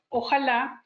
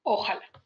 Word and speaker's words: ojalá: es el caso de la palabra ojalá que algunas personas pronuncian ojala poniendo la tilde en el lugar equivocado decíamos que estamos llenos